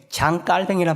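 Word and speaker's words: Jean: 칼빈이 이름을 많이 들어보셨죠 존 칼빈은 사실 영어식 발음입니다 요즘은 사람의 이름을 그나라 국적에 맞게 발음을 하는게 표준이 존 칼빈이 프랑스 사람이기 때문에 장이라 바하는게 맞습니다 제가 그동안 존 칼이라고 여러분들이 아는 단어로 말했지만 앞으로는 이제 장이라고 말하려고 합니다이 프랑스 사람이지만 스위스제 중심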